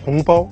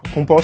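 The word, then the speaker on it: 红包: Hongbao. En français, le H, vous prononcez pas, mais en Chine, H, ça prononce comme R. Hongbao, c'est comme, on dit enveloppe rouge, plutôt.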